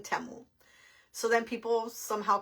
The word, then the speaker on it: Temu: I say temu and they say it's timu so I Googled it and originally it states that the correct name is temu it's temu and they changed their name to timu or they started pronouncing it timu so that people in the US can pronounce the name better but originally it's temo so in case you guys wonder why I call it temo well that is why in the commercial it